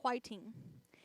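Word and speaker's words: 화이팅: So another thing is whiting. And it's just a way they say fighting. It's a phrase of support in cheering someone on. For me, I think they just can't pronounce the F sound, the F sound.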